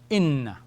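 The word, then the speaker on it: إنّ: And if we were to change the vowel from fatha to kasra, it gives us another word, all right? Inna, like this.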